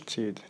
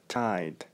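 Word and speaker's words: Tide: ليدر تشيبس هذا سميتو، ما سميتوش تيد، تيد ماركه اخرى، ورك الحمر، وكتنطق تايد تايد.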